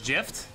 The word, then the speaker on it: GIF: right here to pronounce gift definitely not definitely not do you park your car in the garage no i don't think so it's it's gif i don't care what anyone says what about giraffe giraffes